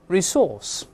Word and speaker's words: resource: 我们大声来一遍，resource。